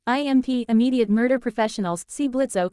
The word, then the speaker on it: Blitzo: Help wanted impmed Immediate murder professionals see Blitzo. The O is silent on the third floor for a hell of a great job.